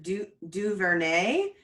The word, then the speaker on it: DuVernay: I pronounced it wrong. It's Ava DuVernay, Duvernay.